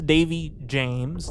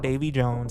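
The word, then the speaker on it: Davey Jones: optimism on another level here's Davey James not Dave Jones I said it wrong last episode my bad fourth mate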